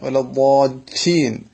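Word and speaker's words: وَلَا الضَّالِّينَ: വലദ്ദാലീൻ. അപ്പൊ നമ്മൾ മല്ലി എന്ന് പറയുന്ന സമയത്ത് ഷദ്ദ് ചെയ്യുന്നുണ്ടല്ലോ, അല്ലെങ്കിൽ മലി എന്നാവില്ലേ, മലി. അപ്പൊ മല്ലി. അതേപോലെ ലീൻ എന്നായിരിക്കണം ലാമിലെത്തുമ്പോൾ ഉച്ചരിക്കേണ്ടത്.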